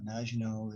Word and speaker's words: Maginot: but speaks of the maginot line uh looks like it's spelled maganat but uh maginot is the french french pronunciation and uh part of